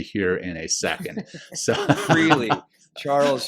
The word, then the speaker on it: Freligh: So, Freely Charles Freely. Okay, everyone's going to know your name. It the it's spelled F R E L I G H.